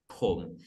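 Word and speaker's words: ผม: Pom. It's P with a as aspirated sound similar to like pull. Yeah. Flower in Hindi. Pull.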